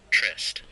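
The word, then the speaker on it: tryst: t y t r s trist Google let's pronounce this word shall we trest trest uh a private rantic rendevu between lovers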